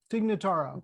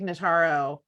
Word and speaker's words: Notaro: i'm loving having uh i'm gonna pronounce her name wrong tig dignotaro take nataro yes comedian tignataro in a serious role i